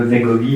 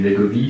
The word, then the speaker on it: Wegovy: Et puis aujourd'hui, donc je te suis sur les réseaux, donc j'ai vu que tu utilises le Wegovy, est-ce que c'est comme ça qu'on prononce? Le Wegovy, oui.